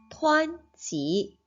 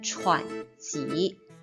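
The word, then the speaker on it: 湍急: 师念一次湍急。我们不可以把这个湍字念成喘急，这个是读成湍急。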